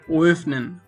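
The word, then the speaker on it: öffnen: এবং এটাকে প্রথমে ও বলে তারপর হচ্ছে একটু টান দিয়ে এ উচ্চারণটা করতে হবে, এ বলতে হবে, তাহলে হচ্ছে এটার একটা সঠিক প্রনাউন্সিয়েশন হবে। যেমন হচ্ছে ওয়েফনেন, ওয়েফনেন, ওয়েফনেন মানে হচ্ছে ওপেন, ওয়েফনেন মানে হচ্ছে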